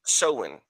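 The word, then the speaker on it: Samhain: date back to the ancient Celtic festival of seen. The ancient Celtic festival of seen, right? It's spelled s a m h a i n, but it's a it's an ancient it it's pronounced soen.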